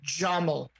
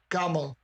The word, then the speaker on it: Jamal: The Arabic technically doesn't have a hard G sound like a G, but Egyptians put it in there. Modern day Egyptians, like, where like a Gulf state Arab from, say, Saudi Arabia would say Jamal, Gamal.